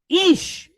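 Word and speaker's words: אִישׁ: We have aleph, silent letter pointed kirik yod with a sheen behind it. So what's the word? Ish, which means what?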